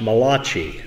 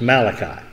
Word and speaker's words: Malachi: By the way, that's not pronounced Malachi, if you didn't know. Just wanted to make sure you're aware of that. It's Malachi.